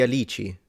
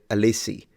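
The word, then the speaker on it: alici: gum Katura di alichi oh I appreciate you pronounced it right Katura di alichi that's correct cuz people that don't know Italian usually say we'll read it alissi uh so I appreciate that alichi nice thank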